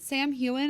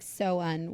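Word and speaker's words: Samhain: In both spellings, it is pronounced like so-un, with the so pronounced like a female pig and un pronounced as un, or so-un, so-un, because that's an actual holiday.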